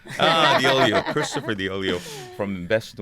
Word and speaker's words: Deoleo: last name in English diio diio Okay I always tell people it rhymes with Oreo ah the oio Christopher the oio from